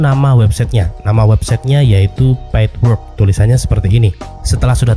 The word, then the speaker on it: Paidwork: Tahapan pertama ketikkan nama website-nya nama website-nya yaitu pidwork tulisannya seperti ini setelah sudah tertulis seperti ini ejaannya yaitu p a i d w o